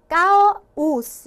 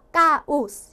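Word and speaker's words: caos: 강모음 두 개가 겹쳤죠? 그러면은 뭐 까오스 이렇게 따로따로 해줘야 된다는 얘기예요. 그래서 까오스 이렇게 발음을 해주시면 되고,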